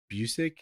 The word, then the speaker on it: Busiek: I pronounce it Busiek. Busiek? Yeah, but who knows if that's correct. I think I've heard other people say it that way, but yeah.